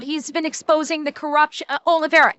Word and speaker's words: Oliveira: Oliveira. Yes, thank you, Knee. Yeah, I mispronounced his last name. Tyler Oliveira.